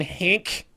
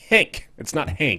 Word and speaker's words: Henk: Also going to be talking about Action Hank. It's Henk. It's not Hank. It's not Hank. It's Hank. Hank's It's not Hank. It's not Hank, guys. Rhymes with spank and bank.